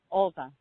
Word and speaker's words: Oltea: Oltea. Olta.